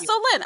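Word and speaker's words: Solène: the book where he person says how to pronounce her name and he's like oh so you mean so lend me some money I'm like that's right I'm like yeah so Lynn okay so that actually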